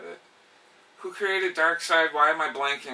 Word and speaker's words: Darkseid: and he's just like, I had to tell all my friends at school that you actually pronounce it Darkseid.